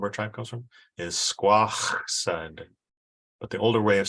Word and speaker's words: Squaxin: The name of our tribe comes from is Squaxin, but the older way of saying it was similar to how you say it in English, Squaxin. So the older way would be Squaxin.